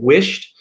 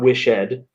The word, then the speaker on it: wished: um it almost you almost pronounce the d like a t uh the e d you don't pronounce it ed it's not wish ed it's wished it's like